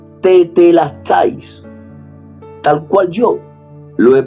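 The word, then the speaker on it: τετέλεσται: Y esa palabra, consumado es, en griego, se pronuncia tetelestais, tal cual yo lo he pronunciado, tetelestais.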